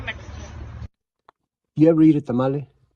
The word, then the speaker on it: tamal: You ever eat a tamale? It's actually pronounced tamal, singular. Tamal is plural, but let's go with tamale.